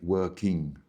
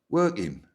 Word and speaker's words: working: Working is how it's spelt, but we don't say that. We don't say working. What we do say is working, working.